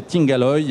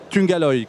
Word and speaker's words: Tungaloy: Et vous le prononcez bien, parce que moi, je disais Tungaloy, et monsieur William Mayence, qui est le directeur général de l'entreprise, m'a corrigé. Alors, Tungaloy, qu'est-ce que c'est?